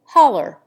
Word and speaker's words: holler: example to holler footnote the correct form of this appears to be halu or haloa but in america it is pronounced holler and usually represented in